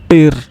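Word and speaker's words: Tür: TU double dot R, tir, which means tire.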